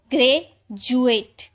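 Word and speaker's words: graduate: यू ए टी E grey जुएट डुएट नहीं जुएट ज इसे डी को ज में पढ़ते हैं और यू का छोटा ऊ की मात्रा जु ठीक है ग्रेजुएट जी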